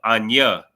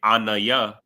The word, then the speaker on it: ana: I am right but if you pronounce uh ana oh incorrectly like if you say anaya if you say anaya then you end up saying ship like a vessel and you end up